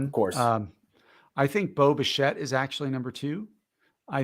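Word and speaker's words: Bo Bichette: just want to say the way Ross pronounced Boba shet it sounded like he said Boba Fett at first his dad was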